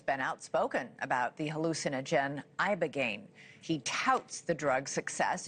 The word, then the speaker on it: Ibogaine: Ibogaine. Remember the name. Is that pronounced relatively properly, would you say? Yes. I don't want to get it wrong. Ibogaine, because it's so important, and experienced an 80